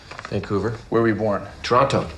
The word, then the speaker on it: Toronto: where were we born Toronto Toronto Canadians don't pronounce the T some com guard is